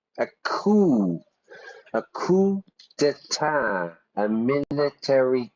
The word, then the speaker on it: coup: English we don't say we don't pronounce the P we do the French style until then treyer won't